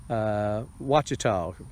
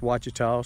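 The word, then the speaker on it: Ouachita: earth box is a watch at all pronounced watch it all starts with a q qu a CH ITA and I've grown them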